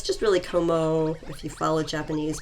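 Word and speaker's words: Kommo-o: oh it's just really como if you follow japanese pronunciation rules when they repeat a vowel you're just supposed to say it for a longer amount of time of course people can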